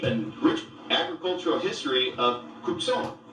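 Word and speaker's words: Cuk Ṣon: Rich agricultural history of kubsan Tucson the original way to pronounce Tucson the thermal Autumn have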